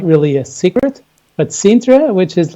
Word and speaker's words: Sintra: in Lisbon but right next right nearby in sintra is it mice pronouncing that right yes exactly you are pronouncing